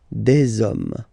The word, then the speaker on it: des hommes: You don't pronounce it, so you get des hommes, okay?